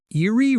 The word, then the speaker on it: eerie: The stress is on the first syllable, ear.